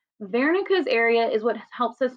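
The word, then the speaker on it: Wernicke: three it looks like Wares but the correct pronunciation is Vera area this is one of those German words W makes a v Sound vero's area is what helps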